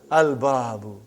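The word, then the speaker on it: البَابُ: Al-babu. Is it moon letter or sun letter? Moon letter. You did pronounce lam.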